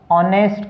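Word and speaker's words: honest: Ashoka was ऑनेस्ट king, अब इसको होनेस्ट बोलेंगे तो हमारा उच्चारण जो गलत हो जाएगा, क्योंकि है जब साउंड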